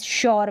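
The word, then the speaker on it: sure: अब ये जो एस एच को श पढ़ते हैं ना, सेम वैसे ही इस एस को श पढ़ रहे हैं इस श्योर में।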